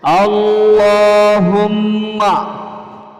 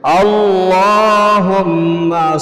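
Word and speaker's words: اللهم: খুব মনোযোগ দিয়ে আমি একাধিকবার পাঠ করে সহিহ শুদ্ধ উচ্চারণটা শিখিয়ে দিচ্ছি। আল্লাহুম্মা, বলো আল্লাহুম্মা সাল্লি আলা মুহাম্মাদিন ওয়া আলা আলিহি ওয়া সাল্লিম। বলতে হবে কিন্তু আল্লাহুম্মা সাল্লি আলা মুহাম্মাদিন ওয়া আলা আলিহি ওয়া সাল্লিম।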